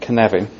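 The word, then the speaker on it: Cynefin: of all it's pronounced canav it's kind of like one one of the ways we know whether we talk with somebody if they don't pronounce it properly and but it's a Welsh word yeah it's also now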